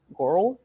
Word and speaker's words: Gorl: Girl world? I don't know. It's spelled Gorl, but it's pronounced girl.